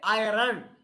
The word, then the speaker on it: iron: Students may say iron. Iron is wrong. The spelling is iron. R is silent.